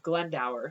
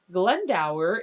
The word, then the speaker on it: Glendower: by the name of glendow that's how I pronounce it and I'm in a